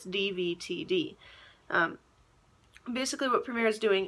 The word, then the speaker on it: DVTD: rebranding comes in is going to be devoted is how it's pronounced but it's Divi TD basically what premier is